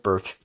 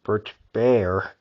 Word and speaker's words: Bert: Yes, Bert. I used to say Bert Bear, but that was a mishap. I actually mispronounced his name.